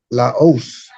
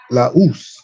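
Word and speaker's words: λαός: And this word is pronounced laos, laus.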